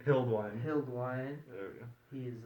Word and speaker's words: Hildwein: Hildwein.